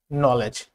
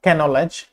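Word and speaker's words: knowledge: এন এর আগে অথবা ওয়ার্ডের শুরুতে কে থাকলে এন কে সাইলেন্ট হয়, নাইফ, নলেজ, নট ক্যানলেজ বা নট ক্যানাইফ।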